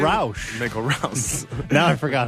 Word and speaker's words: Michael Rouse: Michael Rouse. Now I forgot how to say it. Michael Rouse. Rouse. Like house. House, but Rouse.